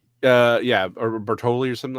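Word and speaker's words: Báthory: so I had to write it down Elizabeth Bathory uh yeah or Bertoli or something like that yeah I can never pronounce it oh no I'm sorry you're talking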